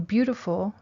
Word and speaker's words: beautiful: beautiful the colors are beautiful the tea in beautiful has a d pronunciation beautiful your family is beautiful this this